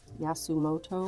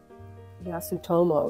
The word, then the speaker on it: Yasutomo: version of this paper the yasumoto I that's how you pronounce it yasutomo excuse me excuse me yasutomo um yeah this is